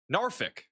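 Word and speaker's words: Norfolk: I'm looking at like a Reddit page for Virginia Beach and it says how to pronounce it and the local pronunciation is Narfik. That's what it says.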